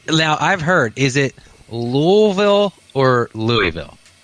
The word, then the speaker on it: Louisville: lives here just says Louisville Louisville what's that unto this word you don't pronounce the S oh so it's Louisville okay that's from how